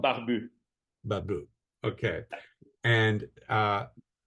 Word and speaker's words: Barbu: So it's called Barbu.